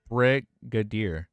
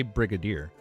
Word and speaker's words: brigadier: Vin Rebe and Brigadeier. Am I not saying brigadeier? I thought I was saying brigadeier. Was I mispronouncing? Oh shit, I probably I I know. I'm trying to say Brigadier.